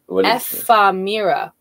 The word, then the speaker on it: ephemera: It is pronounced ephemera.